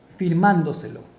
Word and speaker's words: firmándoselo: Firmándoselo. Separemos. Fir, man, do, se, lo. Última sílaba, penúltima sílaba, antepenúltima sílaba, mayor fuerza de voz acá, en man, firmándoselo.